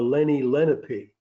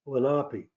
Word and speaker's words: Lenape: was a child uh we called the Indians of New Jersey the Lenny lenpy but they pronounced it lenapi but the British called